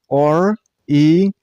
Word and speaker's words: orienteering: This word has total 5 syllables. Orienteering. And while pronouncing this word, you should stress on a 4th syllable. I mean on ter sound. And the last syllable isn't pronounced as ing. It's eng. So, orienteering. Orienteering.